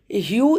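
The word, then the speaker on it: Hugh: ह्यू इसमें जी H silent रहेगा। आप जीए एच को नहीं बोलेंगे। ह्यू बोलेंगे इसे।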